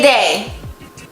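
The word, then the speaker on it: deh: Where does the day come from though? It's not day, it's day. D-E-H really.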